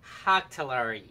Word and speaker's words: Högtalare: All right, so pronounce that for me, Fernando. Högtalare.